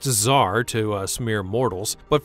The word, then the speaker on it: Tsar: It's also pronounced Tsar to us mere mortals, but for some reason features a silent T before its name.